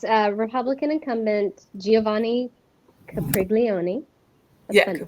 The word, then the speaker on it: Capriglione: Capriglione. Okay. Okay. So it's Republican incumbent Giovanni Capriglione.